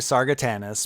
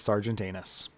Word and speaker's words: Sargatanus: It's actually Sargatanus, but everybody says Sergeant Anus.